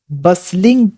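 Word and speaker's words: bustling: अब देखिए यहाँ पर जो वर्ड आया है इसे हम प्रोनाउंस करते हैं बसलिंग। यहाँ पर भले ही यहाँ पर टी हो, लेकिन ये टी जो होता है साइलेंट होता है।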